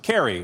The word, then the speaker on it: Cary: Just make sure you tell Chad Ochocinco it's pronounced Cary, not Curry, so he knows that, Carly.